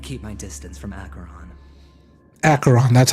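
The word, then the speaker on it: Acheron: were you I'd keep my distance from acaron acaron that's how you say it any schemes out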